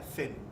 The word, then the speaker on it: Zen: ese budismo chan llega a japón japón se pronuncia zen del budismo zen que ustedes conocen que pasa